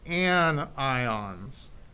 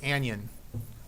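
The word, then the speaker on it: anion: say keishon usually okay negative ions are called an ions and I don't have an interesting way like I do for the positive to remember that but I can tell you it's not pronounced an Yin it's an ion z' okay so that's a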